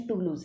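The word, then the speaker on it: Toulouse: Okay, इसका pronunciation टूलूज़ है।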